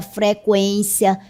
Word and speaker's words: frequência: 50, linguística, consequência, frequência, tranquilo. Note que a pronúncia continua sendo a mesma, com o U.